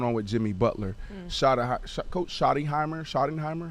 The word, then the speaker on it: Schottenheimer: Coach Schottenheimer, how you say it? Brian Schottenheimer.